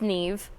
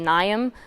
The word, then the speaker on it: Niamh: make different sounds so MH is V and I a is e so usually people pronounce it naam but it's NE I'm